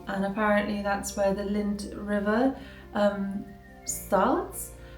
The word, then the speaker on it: Linth: Um and apparently that's where the Lind River um starts. It's not spelled the same as Lind the Chocolate, but it sounds pretty similar to me anyway.